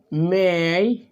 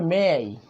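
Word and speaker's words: may: হার, তাহলে হবে দেখেন মেই, সরি সবগুলো উল্টো লিখে ফেলি। হ্যাঁ, দেখেন মেই, আমার মতো ভুল করিয়েন না আপনারা। মেই, আমরা উচ্চারণটা বলি মে, আসলে উচ্চারণটা হবে মেই।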